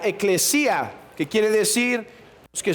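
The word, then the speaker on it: ἐκκλησία: logía viene de una palabra griega que se pronuncia ekklesia que quiere decir los que son llamados fuera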